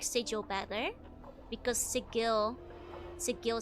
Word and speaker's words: Sigil: It's pronounced with a hard G.